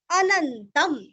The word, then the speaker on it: अनन्तं: भीष्म उवाच, भीष्म भी दीर्घ, उवाच जगत् प्रभुं, जगत आधा त, प्रभुं अनुस्वार का उच्चारण आधा न, देव देवम आधा म और अनंतम, देव देवम अनंतम, देव देवम अनंतम, देव देवम अनंतम, तो भी सही है।